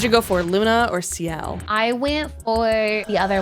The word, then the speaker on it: Sciel: It's definitely CL because it's SCIEL. I think I was just pronouncing it different, and that's why I got confused.